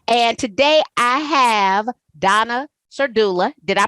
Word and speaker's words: Donna Serdula: And today I have Donna Serdula. Did I pronounce that correctly? I did. I You did. did. I did. I You pronounced it totally correctly. Yes, did. I have Donna Serdula.